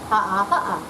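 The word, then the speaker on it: Haʻa: Ha'a. The last letter? A.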